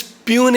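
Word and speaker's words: puisne: P judges it is pun judge that s is silent psychology p is silent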